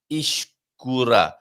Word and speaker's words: escura: So in this instance, escura. A soft E. When you say escura, you're pronouncing it almost like you would an I.